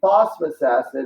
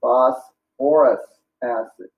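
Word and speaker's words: phosphorous acid: And so this would not be phosphorus acid. It needs the OR in there. It would be phosphorus acid.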